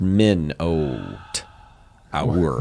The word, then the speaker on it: Minotaur: There's a Minotaur picking up a column that's like 3 times the size of the I Minotaur. believe it's pronounced Minotaur. Yeah, it's pronounced Min-oat. Our.